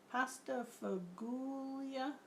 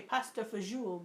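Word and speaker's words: pasta fagioli: there's something pasta fugulia pasta fagula is that what you're typing with a hard G I heard somebody say pasta fazool before and I thought I don't know if that's how you say it or not but I heard it that way has anyone tried Kraft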